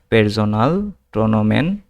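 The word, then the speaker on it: Personalpronomen: এখানে পি কে আমরা আগের ক্লাসে শিখছিলাম পি কে পে এর মত উচ্চারণ হয়। এই যে পি কে পে এর মত উচ্চারণ হয়। আর এস কে এস এর মত উচ্চারণ হয়। কিন্তু এস এর পর ভাওয়েল হলে উচ্চারণে যে এর মত হবে। ঠিক আছে? তো যেহেতু দেখতেছি আমরা এই যে এস এর পরে একটা ও আছে। ও একটা ভাওয়েল সেজন্য পেরজোনাল প্রোনাউন। ঠিক আছে?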